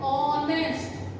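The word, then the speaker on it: honest: अब हम देखेंगे ये तो एच से स्टार्ट हो रहा है ना, ये तो कॉन्सोनेंट है, आ स्टार्ट तो हो रहा है बट इसमें एच क्या है, साइलेंट, एच की तो साउंड ही नहीं आ रही। बोल के देखो साउंड किसकी आ रही है, ऑनेस्ट, ओ से स्टार्ट हो रहा है तो ओ साउंड हमारी वोवल में है, दैट मीन्स कि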